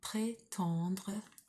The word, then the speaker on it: prétendre: So on that E, it would be pronounced pré, and then this will be it's got an N after it, so it's on. Arrêtez de prétendre que.